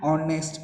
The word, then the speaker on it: honest: call it harness okay it is silent here he is an honest